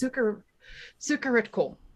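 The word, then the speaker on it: Sucharitkul: this up even though I know how to pronounce it. It's Sukaritkul.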